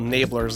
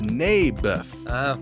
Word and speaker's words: Naboth: I like this little Nabler's guy. You mean Naboth? Yeah, that's what I said. Mayberf. I think you're saying it wrong. His name was Naboth.